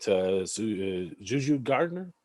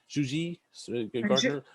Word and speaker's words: Juji Gardner: the grant to translate Juju Gardner. Juji Gardner. Juji. There you go. Thank you. Someone told me it had to be pronounced correctly.